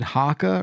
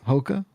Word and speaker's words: Hoka: Is it Haka or Hoka? What are they? What are those? That brand? Hoka. Jan, no you- idea. Hoka.